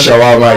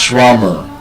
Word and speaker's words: shawarma: It's not shawarma, it's schwama. There's a schwa sound at the end.